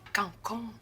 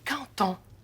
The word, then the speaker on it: quand on: On dit pas cancon, on dit canton. Le D en fin de mot se prononce comme un T devant un mot qui commence par une voyelle.